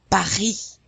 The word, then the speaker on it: Paris: And notice that we're not pronouncing the S in Paris or the T in Robert, because careful, generally, only the consonants C, R, F, and L are pronounced at the end of a French word.